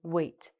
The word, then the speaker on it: weight: also have the homophone how do you say it it looks like wig doesn't it you really go but it's actually the same pronunciation of this verb weight this weight means a